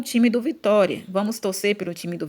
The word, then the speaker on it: Vitória: Então, o que eu mais demorei falando aqui foi a sílaba tó. Então, tó é a sílaba mais forte, ou seja, é a sílaba tônica.